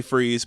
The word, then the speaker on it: Fries: Freeze and his name is actually freeze but it spelled like fries it's awesome the problem